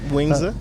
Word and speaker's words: Wingzza: uh you know owner-operator of wingzza that I pronounce it yeah properly yep wingzza wingzza uh you know food truck which you've